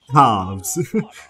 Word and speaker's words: halves: Apparently British say half. Halves. they put the V, V in there.